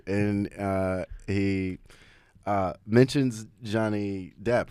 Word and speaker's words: Johnny Depp: a voice message and uh he uh mentions Johnny Depp right but he mispronounces Johnny Depp he says yeah and it's Johnny deep and paruz like you pronounce that perfectly fun fun cultural moments um